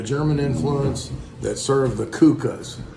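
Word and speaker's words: Kuchen: influence that serve the kukas it's actually uh spell Kuching like k-u-c-h-e-n something like that but it's pronounced Kuka anyway what we're gonna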